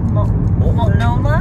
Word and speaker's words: Multnomah: Multnomah?